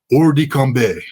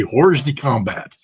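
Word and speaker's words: hors de combat: the water, they are or combe. That's the French pronunciation of what we Marines would like to say, horses combat.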